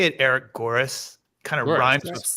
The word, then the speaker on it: Goeres: I say it Eric Goeres. Kind of rhymes with chorus is how I say it to help people out.